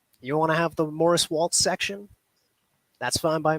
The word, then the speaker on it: Maurice: set the record straight real quick it is Morris Waltz I don't know why I'm going places and they're calling me morrice I know that that's a way to pronounce